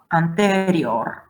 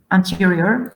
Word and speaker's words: anterior: Exitus, externus, area, anterior, exterior, letalis, reactio, recens, receptor, relapsus, and so on. So e, like e. So it's not going to be anterior, like in English, anterior.